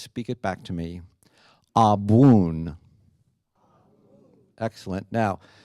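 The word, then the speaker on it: Abwoon: it back to me a boon excellent now the BW sound doesn't really occur in the English language so that's going to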